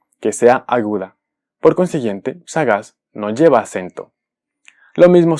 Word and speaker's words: sagaz: Sagaz. Sagaz es una palabra que termina en Z. Y si escuchamos esta palabra, sabemos que la sílaba tónica es la última, es decir, es aguda.